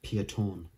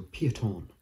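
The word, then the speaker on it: Peyton: a different one so a lot of people pronounce it payton but it's actually wrong it's pieton because it's like a kind of one of those french belgian names pieton so piaton is the correct way you pronounce it piaton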